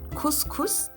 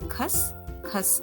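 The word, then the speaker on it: खसखस: So it is not Khus Khus. The pronunciation of U is A. So that is why we say Khas Khas in Hindi.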